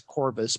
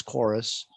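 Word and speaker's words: Chorvs: if you see it it is spelled with a v so it's doing the the latin v for a u thing yeah um so it looks like it's corbus but it is chorus uh but yeah i'm kind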